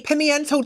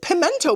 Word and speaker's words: pimiento: Chicken, bell pepper, onions, rice, black bean, corn relish, and chipotle pimiento cheese. I always said pimento, but it's spelled pimiento? I kind of like that more. It sounds more French, right?